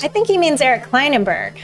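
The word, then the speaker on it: Klinenberg: think he means eric kleinenberg klein and berry i pronounce is that right correct yes i do in fact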